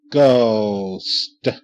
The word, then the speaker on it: ghost: good ghost G oh ghost ghost H is silent in the g h this time there go woo a